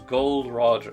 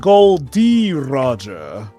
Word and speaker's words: Gold D. Roger: And his name was Gold Roger. Wait. No, it's pronounced Gold D. Roger.